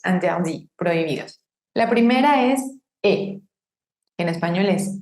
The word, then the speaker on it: et: Tenemos una palabra que normalmente si está sola su última letra es muda, e, yo no digo et, sino e, y se está encontrando con una palabra que empieza con vocal, el.